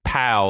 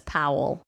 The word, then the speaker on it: Powell: Powell I thought you said pow like when Batman punched the Joker in the in the TV show like pow I probably said it like that but it's Powell Powell yeah so Kena